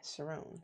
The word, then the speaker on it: Sherrone: Yeah, Sherrone.